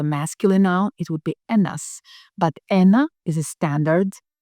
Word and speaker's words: ένα: Number 1, ένα. Ένα. Be careful, this is not a V. As you know, it's ni. Ένα.